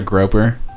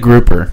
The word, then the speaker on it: grouper: I got a groper, and it said groper out of nowhere. Oh, yikes. That's not... Or is it grouper?